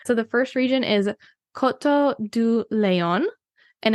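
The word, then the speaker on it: Coteaux du Layon: be so proud so the first region is Koto do Leon and it's spelled like Koto de Leon so you have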